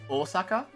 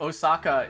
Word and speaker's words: Osaka: I can also forgive Osaka, because it's technically pronounced Osaka. But, like, Osaka is so much easier to say.